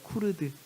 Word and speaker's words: 쿠르드: 크루드 교회에 관한 이야기를 할 겁니다 따라해 보실까요 쿠르드 예 발음이 좀 어려운데 쿠루입니다 크루드 어떤 분 제가